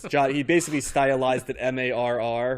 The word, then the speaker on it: Marr: he basically stylized that m-a-r-r right as opposed to uh m-a-h-e-r um when I see that I want to say mayor but it's it's more Mar in the pronunciation yes so that's what